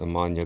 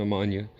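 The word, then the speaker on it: Ammannia: try to pronounce it a lot of people call it a Manya golden some people call it an nausea or Nessie a golden but that's wrong it's an ammonia right here the two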